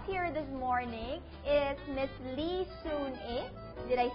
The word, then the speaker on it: Lee Soon Ae: And with us here this morning is Miss Lee Soon-eh.